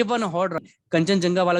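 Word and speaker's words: Kangchendzonga: English में spelling काफी इसकी साइलेंट वाली है, मतलब KHANG, तो जी साइलेंट हो जाता है, CHEND, डी साइलेंट हो जाता है, ZONGA, ये इसकी पूरी स्पेलिंग है इंग्लिश में। तो यहाँ जी साइलेंट हो जाता है, यहाँ डी साइलेंट हो जाता है, और इसे हम फ्लो में हम जो नॉर्थ इंडियंस हैं कंचनजुंगा पढ़ देते हैं।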